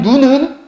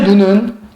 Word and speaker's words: 눈: 하늘에서 내리는 눈은 길게 발음합니다. 사람의 눈은 짧게 발음하게 되어 있습니다.